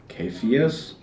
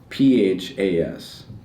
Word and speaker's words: Caiaphas: It's Cephas. Caiaphas. You know what I'm talking about, right? It's pronounced Caiaphas in the time of Christ.